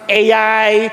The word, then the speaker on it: Ai: No, some people they would pronounce it AI, some a yung iba naman a ito i basta sa atin I.